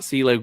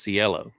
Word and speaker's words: Cielo: It's not CeeLo Green. It's Cielo. Duly noted.